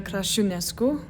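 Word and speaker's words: Crăciunescu: My real name is Crasciunescu.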